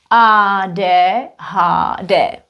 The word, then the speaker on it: ADHD: We read it in Czech. Ah de ha de.